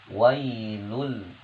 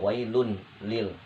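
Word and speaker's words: ويل لكل: Ini tanwin ini bertemu dengan tasydid, maka cara bacanya, ya, dimasukkan ke dalam tasydid, wailul, ya, bukan wailun lil, tapi wailul likulli humazatil lumazah.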